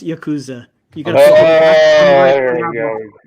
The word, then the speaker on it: Yakuza: Yeah, although Probably- it's pronounced Yakuza. You got There you go. Oh yeah, fix it. You know, make sure we get it right. Or if you're from Mississippi, it's Yakuza.